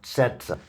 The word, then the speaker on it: Цеца: It's like tz or something like that. Setsa. Setsa, right?